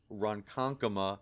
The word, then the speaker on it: Ronkonkoma: home to my home Ronkonkoma New York remember that's how it's actually said I'm sure you will